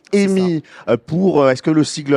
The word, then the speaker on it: EEMI: des sigles alors nous on va dire EMI EMI très bien c'est comme ami mais avec un e EMI pour est-ce que le